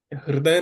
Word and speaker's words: हृदय: इसको रू नहीं बोलना। हृदय नहीं बोलना। हृदय नहीं बोलना। रीद है इसको हमें सही से बोलना है।